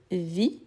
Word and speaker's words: vis: rigoler hein donc je vis je ne prononce pas le S parce qu' on a le verbe viser qui je vise donc c'est différent donc je vis tu